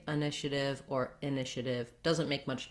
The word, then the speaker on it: initiative: And then you've probably been hearing me say div rather than tiv. American English, we use a flap for a T that is in the middle, not followed by a stress syllable. So I rewrote it here as a letter D because we do the same thing, using a flap for D in the middle of words.